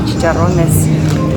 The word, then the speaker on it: chicharrones: These are chicharrones. I'm gonna say it properly. It sounds less white than me, chicharrones.